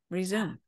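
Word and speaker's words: Rezoom: Resume. And Resume, we spell it R-E-Z-O-O-M because you want to... zoom back fast.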